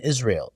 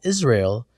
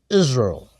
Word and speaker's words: Israel: The trick is not to pronounce the A in Israel. So instead of Israel, it's Israel.